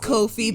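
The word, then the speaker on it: Ko-fi: tip links or coffees ko hyphen f i should be pronounced kofi but it's fine so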